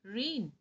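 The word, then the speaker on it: rein: n again rain and r e i n again that is pronounced rain so we here see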